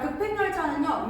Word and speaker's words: 급행열차: 자, 급행 열차는요. 요렇게 축약이 그려집니다. 그렇죠? 그래서 발음되면 급 팽 요렇게 될 거야. 급행. 그런데 두 개의 어음과 어글이 더해지는 과정에서 니은이 참가됐거든. 급행 열 차가 됩니다. 급행 열차. 급행 열차.